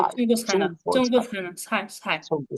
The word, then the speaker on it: 菜: 菜উচ্চারণটা এরকম হবে, 菜中国 চাই 菜呢？